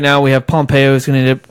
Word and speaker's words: Pompeo: Ron Popeil is replacing him? Pompeo.